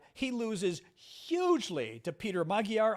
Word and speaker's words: Magyar: He loses hugely to Peter Magyar, I'm going to say, or it might be Magyar. I think Magyar might be the correct way to pronounce it. You Eastern Europeans, you pronounce your names very funny. It's like Fico in Slovakia. So I think it's Majar, I think I read today.